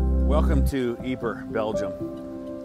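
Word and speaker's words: Ieper: speaking part of Belgium you're more likely to find it spelled i e p r pronounced eer of course the British soers who fought here didn't use either name they called it wipers eer is best remembered today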